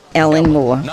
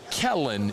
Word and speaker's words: Kellen: Ellen Moore. Ellen Moore. Not Kellen. She mispronounced the man's name.